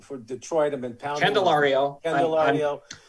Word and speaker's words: Candelario: Jamier Calladero for Detroit. I've been pounding. Candelario. I will help you with pronunciation.